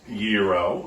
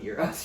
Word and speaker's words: gyro: you say it yes it's called euro but this is not how chad has said it all week one how have you said it yiro no he says gyro